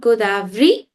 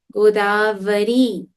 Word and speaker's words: Godavari: Not Godavari. Godavari.